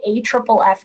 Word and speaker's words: AFFF: forming foam [AFFF - pronounced A triple F], which is quite a mouthful. I will probably call it AFFF generally. But AFFF is used to put